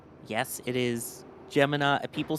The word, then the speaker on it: Gemini: Gemini is the official pronunciation. Per NASA, the official pronunciation of the program is Gemini. Yes, it is Gemini.